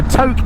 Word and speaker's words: Tok: we're just crossing the Tok River, look. I keep calling it Tok because it's spelled T-O-K. It's actually pronounced Tok as in poke.